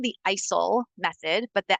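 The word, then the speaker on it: ICEL: um it's called the isil method but the L is silent so the L is there but the L is silent when we're looking at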